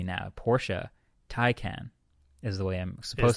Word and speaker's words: Porsche Taycan: Porsche Taycan is the way I'm supposed to be saying it.